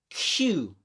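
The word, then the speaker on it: queue: word is actually pronounced just like the word Q. Okay, or just like the letter Q. Okay, so that's actually that I've got one short on that one, which is a difficult word because it's got like 4 extra syllables in it. These 4, but you only pronounce the first letter.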